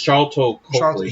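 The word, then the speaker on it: Sharlto Copley: Charito. It's Charlton Copley.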